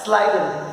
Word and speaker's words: Schleiden: Schleiden, the spelling is little complicated, but it's pronounced like Schleiden and Schwann.